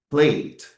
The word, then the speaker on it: played: Nós ainda temos o exemplo da palavra played. No final, adquire a letra D.